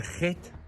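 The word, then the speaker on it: חית: It's pronounced g get get.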